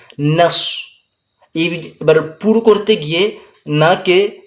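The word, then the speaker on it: نصر: রাকাত টান যাবে জ অনেকজন সদকে সিন উচ্চারণ করে করে নাস বলি তো নাস হবে না মুখটাকে হালকা গোল করে পুরভাবে উচ্চারণ করবেন নাস এবার পুর করতে গিয়ে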